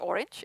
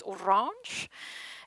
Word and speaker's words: Orange: obliged to say that in french it's not Orange it's Orange I had to brush